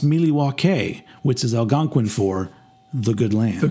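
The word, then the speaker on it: Milwaukee: that there you go um yeah actually it's pronounced miliwake which is Algonquin for the good land the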